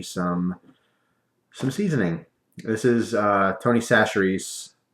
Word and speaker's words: Chachere's: This is Tony Chachere's. That's how you pronounce it, I believe, is Chachere's.